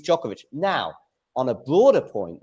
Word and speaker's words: Djokovic: He's just wrong on his pronunciation because he says like listen uh we of you know he says he's been saying Djokovic and lots of people were commenting on on how he says it and then he's like but listen I always go with how they say it in their country or how the player pronounces it and he says that's but it's not it's it is Jovoic.